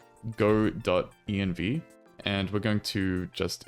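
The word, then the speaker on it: godotenv: EnV which Fally enough looks exactly like good EnV but it's actually pronounced go. EnV as in EnV so anyway we've uh acquired go.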